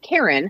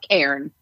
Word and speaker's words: cairn: Despite many people pronouncing this like the name Karen, like I just did. The pros know to use one syllable instead of two, so it's Karen.